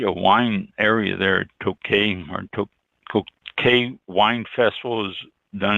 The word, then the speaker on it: Tokaj: And let's see, the next one, Tokaj, Tokaj. I don't think the J is pronounced.